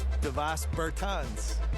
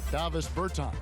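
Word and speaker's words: Dāvis Bertāns: Oh, well, now, at this point in my life, it's Davis Bertans. Is that how you say his name? Yeah. Davis Bertans.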